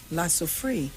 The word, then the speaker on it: La Soufrière: Vincent and the Grenadines in the face of an anticipated eruption of, how you pronounce that volcano? La Soufrière.